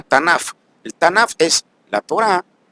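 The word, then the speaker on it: תנ״ך: En hebreo entonces hay un acróstico que se pronuncia Tanaf.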